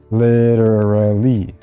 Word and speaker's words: literally: now that being said literally is one of those sounds one of those words that includes these difficult sounds literally there's a lot